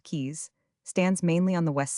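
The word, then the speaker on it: Caius: Gonville and Kais College commonly called Kais pronounced keys stands mainly on the west side of Trinity Street.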